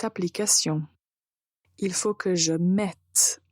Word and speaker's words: mette: il faut que je mette à jour cette application il faut que je mette à jour cette application donc il faut bien prononcer la lettre T ok avant de commencer